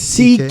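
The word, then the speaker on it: Székely: Yes, that's how you pronounce it. CK.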